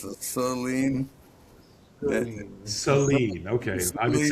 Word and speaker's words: Saleen: Saline.